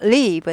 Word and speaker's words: leave: leave, 떠나다. leave죠. 네. 살다는 live, 짧아요. live. 얘는 길어요.